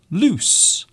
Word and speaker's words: loose: So we have lose and loose. So you can see these two words have very different pronunciations. Lose, loose, lose, loose.